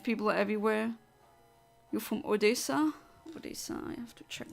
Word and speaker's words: Odesa: are everywhere you're from Odesa Odesa I have to check where that is okay Odessa is that how you pronounce it with two s or Odesa I see both oh